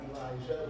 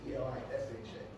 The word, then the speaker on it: Elisha: You find my full name, Elisha, not Elijah. The J is Elisha. Elisha.